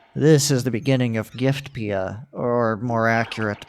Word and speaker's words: Giftpia: from Rock Bottom this is the beginning of giftpia or more accurate pronunciation ation giftopia while pacle is serving his sentence I'll just